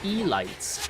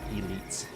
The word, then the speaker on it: elites: And then later it's like, oh, it's zealots and elites, not E-lights.